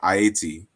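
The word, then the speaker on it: Ayiti: correctly uh yeah so the spelling is is is spelled phonetically it's spelled the way you would say it in in aishan CR I don't speak the language but I understand the importance they say ATI instead of Haiti like Haiti is apparently the the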